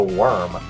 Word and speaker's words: Wyrm: say what's up to worm worm spelled with a why not an O only ever appeared in